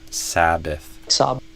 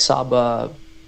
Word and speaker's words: Sabbath: say sab not sa but sa sabbath perhaps like saba and I think you're missing the th at the end I didn't hear it saba sabbath sabbath Iron Maiden.